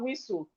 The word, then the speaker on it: whistle: We have whistle. The T in whistle is silent.